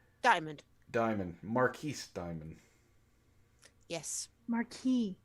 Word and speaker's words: marquis: diamond marquis diamond yes marquee marquis don't pronounce the s whatever she's gonna get